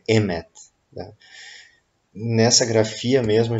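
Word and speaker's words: אמת: A pronúncia, então, de verdade em hebraico é Emet.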